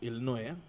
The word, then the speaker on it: Illinois: B oh elino wow Illinois illino Illinois illino the silent s State Illinois yeah oh